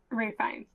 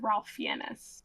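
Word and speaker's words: Ralph Fiennes: I don't know if it's Fine or Fines or whatever, but it's spelled like it looks like it's like Ralph Fiennis, but it's not said like that at all.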